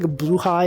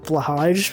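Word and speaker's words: Blåhaj: shark name wrong yeah isn't it pronounced like blue high or something it's not like blush everyone says but apparently it's pronounced differently yeah exactly I know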